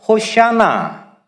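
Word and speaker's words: הושענא: 이게 무슨 뜻이냐면 본래 히브리어로는 그들은 이렇게 발음했을 겁니다. 영어 호잔나, 그리고 또 헬라어로는 호산나 그대로, 그리고 한국말로 호산나, 그리고 히브리어로는 호샤나.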